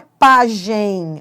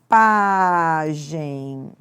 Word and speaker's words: pagem: Agora, não é pagem. A pronúncia correta não é essa. A pronúncia correta é pagem. Pagem é paroxítona terminada em EM, por isso não tem acento.